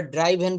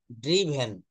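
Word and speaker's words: driven: এটা আমরা ড্রাইভেন বলি। আমরা আলাদা অনেকে অনেক উচ্চারণ করি। কিন্তু এটা হবে হচ্ছে ড্রিভেন।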